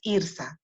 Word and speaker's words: Irtha: un pequeño Ay Disculpa estuve pronunciando mal tu nombre es irsa ahora que tú lo